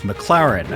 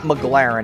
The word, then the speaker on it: McLaren: because he couldn't pronounce McLaren he says the name wrong like eight times in a row it's not McLaren it's McLaren okay so that's how